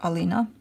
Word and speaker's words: Ali: My mom used to call me, when I was little, my mom used to call me Ali, short for Alina, which is Ali, pronounced in Romanian.